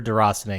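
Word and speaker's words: Déraciné: I looked through several sources, and I'm pretty sure Deracine is how you say it.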